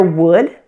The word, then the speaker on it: would: you know how their wood could and should there are three things that you need to watch out for when pronouncing these words the first thing is that the L is silent notice that wood wo